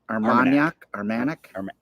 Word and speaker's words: Armagnac: I think it's Armagnac, A-R-M-A-G, Armagnac, I think port you said it right.